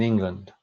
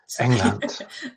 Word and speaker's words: England: Weibringen ist die Partnerstadt von Mayenne in Frankreich und Devizes in England. Except you need to pronounce it in German, so it's in England. England.